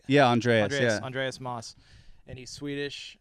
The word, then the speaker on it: Andreas: Did I pronounce it right? Yeah, Andreas.